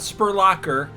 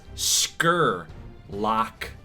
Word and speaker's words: Scurlock: named prospects here kajante Spurlock not spurlocker and it's not even Spurlock I just totally butchered this it is scur lock not skirt Locker not spiral not spurlocker it is Scurlock kajante